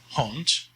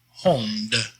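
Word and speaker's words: hond: would say dot is haunt means dog the d on the end of a word in dutch is always pronounced as a t sound so not homed but remember last lesson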